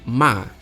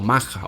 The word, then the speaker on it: Maha: Sri Lanka tiene 2 temporadas agrícolas, Yala de mayo a agosto y Maha o Maja, o depende si pronunciáis o no la H, que va de septiembre a marzo.